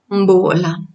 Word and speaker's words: Mbola: In Malagasy, you usually pronounce the letter O, U, like in pool, although, for example, in Mbola, we pronounce it like in bot, Mbola.